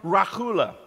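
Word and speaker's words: רְכֻלָּה: in hebrew is the hebrew term rahula you got to have a good sinus infection to say it right hebrew strong's number 7404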